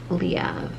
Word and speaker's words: Leav: And yes, it's pronounced Leav.